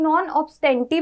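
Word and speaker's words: non obstante veredicto: अब अच्छा, पहले यहाँ पर एक बहुत इंपॉर्टेंट बात समझते हैं कि इसका जो प्रोनाउंसिएशन है ना, इससे कई लोग नॉन ऑब्स्टेंटी भी प्रोनाउंस करते हैं और कई लोग इसे नॉन ऑब्स्टेंट भी प्रोनाउंस करते हैं.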